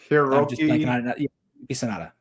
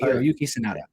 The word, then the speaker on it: Hiroyuki Sanada: Oh, well, speaking of that, I could never pronounce his name correctly. The guy who plays Scorpion. Yeah. Hiroki Sanada. Hiroki Sanada, right? That's Hiroyuki Sanada.